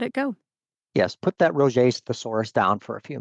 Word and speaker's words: Roget's: Oh man, I didn't know that's how you pronounce that. I thought it was Rajits or something.